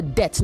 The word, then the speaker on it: debt: Okay, you owe a debt, not debt. The B in debt in debt is silent.